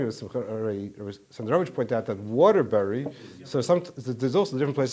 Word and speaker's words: Waterbury: By the way, it would remind me of Sandarovich pointed out that Waterbury. So there's also different places. Some places they pronounce the berries. It's Waterbury, not Waterberries.